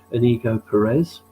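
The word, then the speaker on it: Íñigo Pérez: was, I'm going to have to get this pronounced right, Inigo Perez, who was, as I say, Iriola's assistant at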